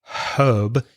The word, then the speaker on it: herb: American English pronunciation of herb is herb so they do not pronounce the H so instead of herbal tea with that H sound you would hear in the u.s.